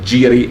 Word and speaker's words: gyri: the very structure of gyri and sulci, or giri and sulci, if you want to use the Latin or archaic Greek pronunciation.